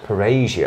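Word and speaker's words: Parrhesia: Parasia. Parasia, that's how I pronounce it.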